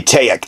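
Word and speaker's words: Tajic: I'm going to say Taek. The J is silent.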